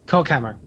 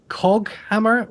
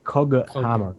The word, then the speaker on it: Coghammer: The Cockhammer. Yeah, Cockhammer. So The Twitch chat keeps thinking we're saying Cockhammer. how do you pronounce it's causing it them correct? Coghammer with a G, not Cockhammer. Okay, Coghammer.